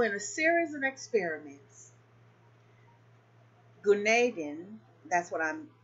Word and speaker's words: Gunaydin: Now, all right, further complicating the matter, here's a question recently posed by Gunaydin of Belkent University in Ankara, Turkey.